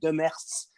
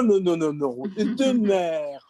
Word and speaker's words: Demers: said Demers, and said Demers, and the teacher said no, Demers. Only people from France will correct you on the pronunciation of your own last name. But you just kind of you pick your preferred anglicization, and so we've always in my family we've gone with Demers, but there's an accepted